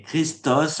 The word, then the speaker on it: Krishna: avec le prêtre que Krishna, dans l'accent pour les Bengalis, quand ils prononcent le terme de Krishna, ils le prononcent Christa ou Christo.